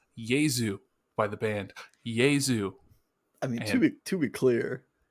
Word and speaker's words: Jesu: picked it last week so i'm going to pronounce it right right right now uh it's jesus by the band yay zoo i mean to be clear the the band